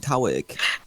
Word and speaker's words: Tawick: Did you say? No, Tawick. My name's from Tawick.